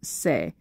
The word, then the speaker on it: se: soul if you flat it's going to be pronounced say and then uh the E flat minor is